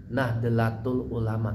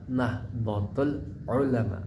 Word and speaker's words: Nahdlatul Ulama: pengurus besar Nahdatul Ulama Jadi dibacanya Nahdatul Ulama bukan Nahdatul Ulama apalagi Nahdlatul Ulama itu salah yang benar adalah Nahdatul Ulama pakai do ya h-nya H besar Nahdatul Ulama pakai Alif di akhirannya agak ditekan karena akhirnya ada Alif